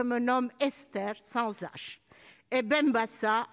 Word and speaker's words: Benbassa: nomme estèphe 100h et benbassa avec un seul ace puisque le s même entre deux voyelles se prononcent f et qu'il n'y